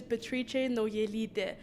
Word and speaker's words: Beatrice Naujalyte: top of their head my full name is betriche no yelite it's lithuanian so it's hard to pronounce it's long it's hard